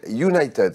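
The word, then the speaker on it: Younited: Ça s'appelle United, ça s'écrit Y-O-U-N-I-T-E-D.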